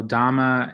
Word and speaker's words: dhamma: the buddha dhamma like i've been learning so much from the